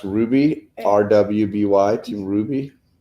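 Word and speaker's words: RWBY: world then sounds like German Japanese British it's pronounced Ruby rwb why do you Ruby Chris Barrett knew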